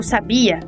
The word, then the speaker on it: sabia: as proparoxítonas são marcadas já o verbo sabia é uma palavra paroxítona e não tem acento gráfico porque esse é o padrão acentual no português ou seja a sílaba tônica é predominante na segunda sílaba da palavra apenas um conjunto bem pequeno de